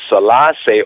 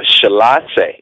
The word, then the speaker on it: Selassie: The God of the Hebrew be Shalisha, and we say Selassie or Shalase, Shalisha, Selassie, which means the three or the Trinity, and you find it over and over.